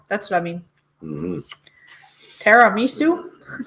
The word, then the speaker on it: tiramisu: Is it TINAMISU? Mm-hmm. So tinamisu? Tinamisu? Tiramisu. Something. Tiramisu Bailey. Tiramisu. Oh, there. Oh, you mean tiramisu. Okay, that's what I mean. Mm-hmm. Tiramisu?